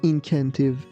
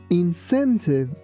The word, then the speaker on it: incentive: We don't say incantive. We say incentive.